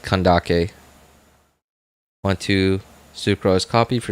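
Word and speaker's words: Candace: I've heard that her name's supposed to be pronounced kandake want to sucr copy for C6 C6 um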